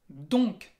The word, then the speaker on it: donc: El primero es donc. Así es, con el sonido de la O nasal. On. Donc.